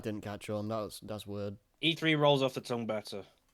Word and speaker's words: E3: the Electronic Entertainment Expo, which apparently was supposed to be pronounced as E cubed. Ha. Yeah, I I'm guess- glad that didn't happen. Yeah, that I'm glad that didn't catch on. That's weird. E3 rolls off the tongue better.